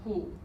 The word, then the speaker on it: 虎: And the Chinese word for tiger is pronounced hu.